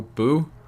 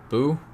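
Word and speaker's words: Bhu: The interactions with the bird, the crow, Boo, B-H-U, Boo, I believe is how you pronounce that.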